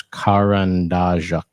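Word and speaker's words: карандаш: Remember, it has that capital R, which we pronounce sort of like the car in English. So it's Karandajak.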